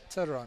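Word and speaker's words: Theron: Turan. Turon. Why do you guys, oh my goodness. It's an Afrikaans. Afrikaans surname. It's a silent, the H is silent.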